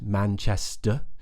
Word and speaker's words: Manchester: really common places like Manchester that's quite an easy one just make sure if you're going for an RP accent you don't pronounce the r at the end Manchester we don't pronounce it